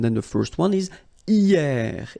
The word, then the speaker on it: hier: And then the first one is hier. Hier means yesterday, okay? Hier. So remember, this H here is not pronounced, okay?